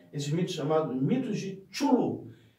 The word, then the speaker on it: Cthulhu: Em inglês, CH não se pronuncia com tanta facilidade, então isso se pronunciaria, eles chamam nos Estados Unidos de Cthulhu, mas como a língua